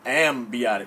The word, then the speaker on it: amniotic: Amniotic fluid. I'm a dude. I don't have Amniotic, no B in there.